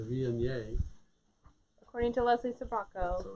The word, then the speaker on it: Viognier: So it's a little village people YMCA-ish, but it's the Viognier.